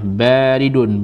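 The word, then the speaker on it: بريد: Ini tulisannya baridun, banyak panjang. Bukan barid. Kalau baridun itu bukan dingin, tapi pos atau kotak pos, barid. Jangan salah pengucapan.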